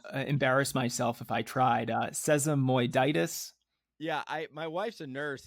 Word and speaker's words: sesamoiditis: It's called sesamotitis.